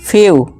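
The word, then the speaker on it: few: जब किसी वर्ड में ई के बाद डब्ल्यू आए तो ई डब्ल्यू को यू से पढ़ते हैं। फॉर्मूला क्या बना, ई के बाद डब्ल्यू आ जाए, E plus W equal to यू का साउंड निकालना है, जैसे कि डी ई डब्ल्यू ड्यू, एम ई डब्ल्यू म्यू, फ्यू न्यू।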